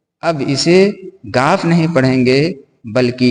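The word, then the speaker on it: گِ: यह है गाफफ़। गाफ के नीचे ज़ेर की मात्रा है। ज़ेर की मात्रा के आ जाने से अब इसे गाफ नहीं पढ़ेंगे बल्कि इ के रूप में गी पढ़ेंगे।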